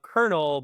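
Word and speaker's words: colonel: Why is it pronounced the way of kernel but spelled like colal?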